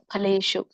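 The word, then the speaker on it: ಫಲೇಷು: ಹೇಳ್ಬೇಕು ಸ ಕೆ ಒತ್ತಿದೆ ಮ ಫ ಫ ಅನ್ನಂಗಿಲ್ಲ ಫ ಅನ್ನಬಾರದು ಆಕ್ಚುಲಿ ಪ ಫಲೇಶು ಮ ಫಲೇಶು ಒಬ್ಬೊಬ್ಬರು ಅಂತಾರೆ ಪ ಹೇಳ್ತಾರೆ ಪ ದೊಡ್ಡ ಪ ಇಟ್ ಇಸ್ ನಾಟ್ ಅ ಫ ಇದು ಪ ಫಲೇಶು ಪ ಸಣ್ಣ ಪ ಆಗುತ್ತೆ ಸಣ್ಣ ಪಕ್ಕೆ ಪ ಅಂತಾರೆ ದೊಡ್ಡ ಪಕ್ಕೆ ಪ ಅಂತ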